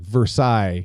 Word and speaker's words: Versailles: uh or like like s a i l l s like Versailles yeah you know like what